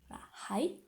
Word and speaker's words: はい: Donc en japonais, on prononce bien H. Hai.